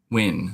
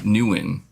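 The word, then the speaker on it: Nguyen: about to suplex me live on stream it's pronounced wi Newan is that how you say Newan Newan okay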